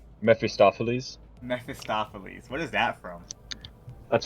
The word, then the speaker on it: Mephistopheles: How do I pronounce this? The bus name? Mephistopheles? Mephistopheles.